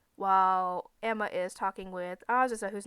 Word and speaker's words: Azusa: Because I had to kind of check myself so I don't say Asusa or something like that. That's why I say it kind of slow so I don't say it wrong.